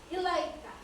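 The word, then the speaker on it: إليك: Cara membacanya harus terang dan jelas. Ya, ilaika, ilaika tidak boleh samar-samar atau tidak jelas.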